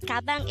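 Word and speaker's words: 가방: Gabang could be divided into two syllables, ga, bang. Ga is formed from the combination of the sounds of kiak and a, while bang is the combination of the sounds of biop, a, and iyong.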